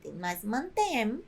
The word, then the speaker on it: mantém: que acontece com acentuação para que não se pronuncie mant mas mantém adicionamos agud o resto fica